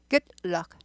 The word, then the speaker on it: good luck: 또 조심하실 거는 굴러다니지 않아요. 굴럭 아닙니다. 굴럭 아니에요. good luck하고 스타카토 우리 고급 발음을 하시자고요.